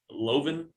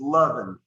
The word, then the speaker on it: Loven: And he wants to know about the last name for Loven. Is that how you say it? It's Lovin. Lovin. Okay. Yeah. And if you call him Loven, you're not the first person who said that.